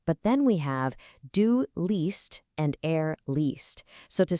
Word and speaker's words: liest: In this pattern, the E and the stem stretches out into a long E sound, like E. So ich lese is normal, but then we have du liest and er liest.